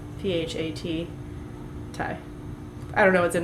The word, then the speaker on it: Pad Thai: Not Pad Thai. It's PHAT Thai.